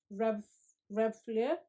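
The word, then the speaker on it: Reb'l Fleur: the rihanna red flare rev rev flare i believe it's pronounced and it's got this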